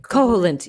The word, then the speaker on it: Koholint: we hopped on over to oh gosh, Koholint. Is that how you pronounce it? Koholint.